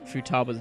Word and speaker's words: Futaba: Because there's Futaba and there's Futaba. Like, those are the two main ones, which I think have both been used.